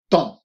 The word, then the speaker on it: temps: et le temps libre remarqué la prononciation de temps ok il y a p e mps il ya beaucoup de lettres mais dans la prononciation vous dites simplement temps c'est à dire tu es et la voyelle à nasale le temps libre le